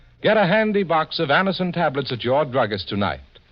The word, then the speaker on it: Anacin: It's so unnecessary to suffer from the pain of headaches, neuritis, or neuralgia when Anacin gives you such incredibly fast relief.